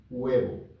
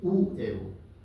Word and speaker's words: huevo: Entonces leímos huevo, no decimos uevo.